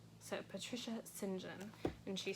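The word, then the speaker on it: St. John: three books by Patricia I would say Patricia St John but according to Elizabeth Elliott whom I trust in many ways says that it's pronounced Sinjin so Patricia Sinjin and she says that's the English for you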